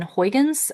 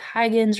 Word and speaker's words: Huygens: talk about is Christian Huygens um he is a Dutch mathematician from the Netherlands so his last name might why might look like Hygens or something like that. It is actually pronounced Huygen.